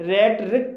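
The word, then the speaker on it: rhetoric: रेट्रिक, रेट्रिक शब्द भी आर एच से शुरू हुआ है और यहाँ पर एच साइलेंट है, इसलिए इसे रेट रिक पढ़ा जाएगा और रेट रिक मीन्स होता है वक्रपट का।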